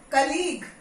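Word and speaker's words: colleague: कलीग, कलीग यू, कलीग you silent.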